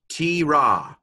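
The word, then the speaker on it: תְּרָא: And so this is a tav pronounced t with a light dagesh in there, a hardening dagesh. Okay, what's that? Hirik, yod. Hirik yod, that's a long vowel that simply is pronounced T. Okay, what letter is this? Resh, Kamatz, Aleph. So this is T-Ra. Not, you've heard of a T-Rex? This is a T-Ra. Lesser-known cousin.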